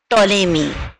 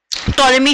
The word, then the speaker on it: Ptolemy: হচ্ছে homage to Claudius টলেমি। তাহলে হু ওয়াজ Claudius টলেমি? এখানে দেখো ক্লডিয়াস টলেমির ছবি দেওয়া হয়েছে। টলেমি কে? বইতে তোমাদের আছে, দেখো ক্লডিয়াস টলেমি, উচ্চারণটা পি এর উচ্চারণটা কিন্তু সাইলেন্ট থাকবে।